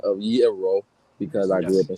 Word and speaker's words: gyro: to myself, yo, okay, the Greek, gyro is a Greek food, Middle Eastern. It is Europe. and it's definitely not pronounced gyro, my bro.